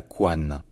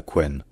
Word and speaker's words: couenne: Et lorsque le français vraiment classique, littéraire, s'est fixé au XVIIIe, XIXe, ça se disait la couane. Et c'est la raison pour laquelle on considère que la prononciation en wa, c'est la prononciation traditionnelle, celle qui est encore